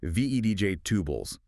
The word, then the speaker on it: vegetables: But often, in natural speech, it gets shortened, almost like VEDJ tubles. That middle E sound sort of disappears. Makes it flow better.